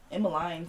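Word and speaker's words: Emeline: i did say emily emma line sounds like coraline emmeline and the thing about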